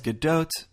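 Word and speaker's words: Gadot: bardeau so let's recap Israel says GDOT Israeli Americans say GDOT and gal herself not only says GDOT but she tells the American Media to say GDOT like she did recently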